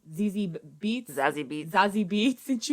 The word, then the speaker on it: Zazie: Zazie Beetz? Zazie Beetz. And she was like, yeah, bitch. It's actually Sassy is how it's pronounced.